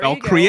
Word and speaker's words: Valkyria: There you Valkyria? go. You mean Valkyrie Chronicles? I'll accept both pronunciations.